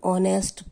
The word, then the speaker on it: honest: My father is an honest person. यहाँ पर देखिए H लगा हुआ है लेकिन साउंड नहीं कर रहा, ये साउंड क्या कर रहा है, O। हम ऑनेस्ट बोलते हैं तो H साइलेंट है, इसलिए N honest person.